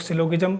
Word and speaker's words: syllogism: कहते हैं कुछ लोग सिलोज म कोई सिलोज म पता नहीं क्या-क्या कह करके पुकारते हैं वैसे शायद शुद्ध प्रोनंसिएशन इसका सिलोज में ही कहते हैं इसका जी जो है साइलेंट रहता है कोई नहीं न्याय निगमन